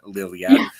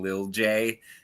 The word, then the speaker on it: Lilia: over again now because I know how to say the name Lilia. Um, before the show started guys, we had a pronunciation lesson because I was saying Lil J and she was like,